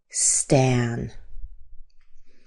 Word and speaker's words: Stan: This name is Stan. Here's the symbol for a. This is the A like cat. Stan.